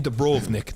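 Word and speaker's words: Dubrovnik: dragons yeah that's that's where they live in dubrov Nick that's how you say it by the way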